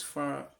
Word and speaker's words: fa: So, and this is pronounced as do, this is re, this is mi, this is fa, so, then you have your la, ti, and then you can repeat the first one, which is do.